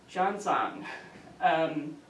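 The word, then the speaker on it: Xuanzang: to try hard, I looked up how to pronounce his name, Zhangzang, traveled to India himself, and you can see from this lower map, his route was entirely by land.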